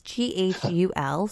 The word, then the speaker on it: Ghul: But it's spelled ghoul, and I don't know if this is like a typo or if it's like poetic license, but it's Ghul, so it's not like a typical like ghoul.